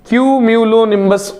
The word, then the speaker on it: cumulonimbus: निम्बस, लोनिम्बस, म्यूलोनिम्बस, क्यूम्यूलोनिम्बस उस cloud का, उस बादल का नाम है।